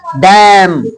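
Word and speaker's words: damn: पतझड़ का मौसम डैम डैम ऑन यू लानत है तुम पर हेलो डन ऑन यू यानी डम ऑन यू क्लियर डन नहीं बोलेंगे डम डम का मतलब होगा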